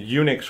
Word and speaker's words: Unix: Wikipedia or whatever relating to how the name UNIX came about and it's pronounced like Eun Eun u CHS like UNIX